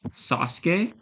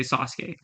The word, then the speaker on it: Sasuke: always that simple because in Japanese the a u inside a word is often silent so let me give you an example there's um the Naruto character right Sasuke even Naruto but Sasuke